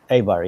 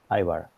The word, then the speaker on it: Eibar: Yeah, so Eibar, right? Eibar, yes, Eibar. It's spelled EIBAR.